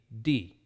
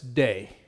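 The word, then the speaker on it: δεῖ: focusing on the words when e and i come together the sound is like i in spit so it should be d it is necessary but a better way to remember is day it is necessary posts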